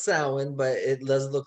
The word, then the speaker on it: Samhain: up by doing interviews we say it's pronounced sound but it looks like samhain so people that want